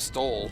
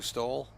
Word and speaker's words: Stowell: Autumn Stowell would you pronounce it Stowell or Stowell? I went with Stoll.